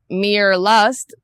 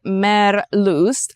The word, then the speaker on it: Meerlust: that was merust mer they're German so we would pronounce it Mir lust in English reading the word but they say mer loo so that's what we're